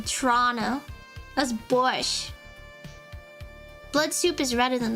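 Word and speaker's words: borscht: No one like pronounce it with a tea. Like I feel like tea is weird. I just say borch. Everyone know says borch. Some people say borched, but I've never met like a Russian or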